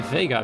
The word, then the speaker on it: Vega: vega if i'm sorry vega vega i know somebody who's called um they are which is written the exact same way so that's why i pronounce it the spanish way i'm not entirely sure